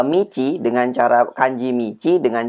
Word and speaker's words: 道: karena kanji ini sendiri mici Ya maksudnya kanji mici dengan cara baca do itu sering sekali dipakai untuk